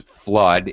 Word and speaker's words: flood: we notice these words flood it only has one vowel sound with a double vowel drought interestingly also has